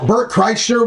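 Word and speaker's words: Bert Kreischer: tis it depends how good seats are so Bert Cher we looked up tickets like like you better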